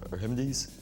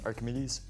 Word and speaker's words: Archimedes: Anton I'm gonna make a wild guess uh remedies say it Archimedes that is absolutely correct for 10 points which